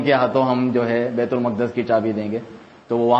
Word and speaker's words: بیت المقدس: بیت المقدس جو ہے، بیت المقدس لوگ کہتے ہیں، بیت المقدس اس کا صحیح تلفظ ہے، فلسطین میں ہے، اور